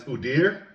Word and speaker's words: Udyr: He sent me the what it's pronounced as. I'm still going to probably butcher it, but it's Udir, and it means beast or monster.